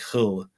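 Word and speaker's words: Hölle: But in German, it's H-O with an umlaut, the two dots over the O, and then L-L-E. So it's more like Hull.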